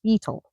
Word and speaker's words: Beetal: You emphasize the first syllable, not the last. So, it's beetle, not beetle.